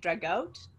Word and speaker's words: Dragut: Dragout. Yeah. Who is apparently a Turk, and so it's like he's so invincible. And then Joleta breaks in, like, Dragut is only a man, a Muslim corsair in